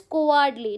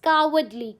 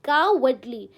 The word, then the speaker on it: cowardly: Many of you will pronounce it as cowardly. No, it's cowardly. Cowardly. ओ को आप ओ नहीं पढ़ते हो, ए जैसा साउंड निकालते हो, cowardly.